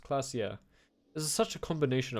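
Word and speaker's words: Klaasje: Clasia is pronounced Clasia.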